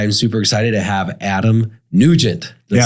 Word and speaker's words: Adam Nugent: I am super excited to have Adam Nugent.